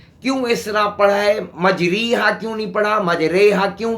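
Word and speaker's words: مجریها: ہود میں بسم اللہ مجریہا کے الفاظ میں پایا گیا ہے۔ اصل اس کی مجراہا تھا، پھر چونکہ امالہ ہے اس لیے اس کا تلفظ یا مجہول کی طرح پڑھا جائے گا۔ یا مجہول اردو میں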